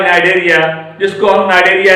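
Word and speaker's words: Cnidaria: बाद, वो आता है नाइडेरिया, जिसको हम नाइडेरिया या सिलेंट्रोटा बोलते हैं। तो नाइडेरिया शब्द जो है एरिस्टोटल का दिया हुआ है, अरस्तु का दिया हुआ है। नाइडेरिया स्पेलिंग देखिएगा CNIDA, CNI।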